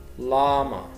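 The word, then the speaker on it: llama: لايون لاما لاما طبعا بنطق الاثنين ال ال واحد.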